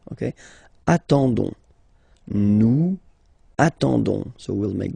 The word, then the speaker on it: attendons: and then we've got the classic ending for nous, so O-N-S, okay, you don't pronounce the S, so you get only this on sound, okay, attendons, nous attendons, so we'll